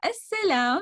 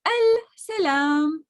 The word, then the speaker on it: السلام: just say wa alaykum as-salam by attaching the L and not pronouncing it. So basically, you will say the S direct. So if you're saying it as al-salam or as-salam, no problem.